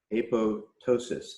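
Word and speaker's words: apoptosis: look up this term a PO ptosis a pose like proceeding like a PO ensign and then ptosis as with a silent P basically means like drooping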